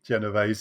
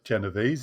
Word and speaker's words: Genovese: what we know uh kitty genovese or genovese if you want the new york pronunciation was um was 28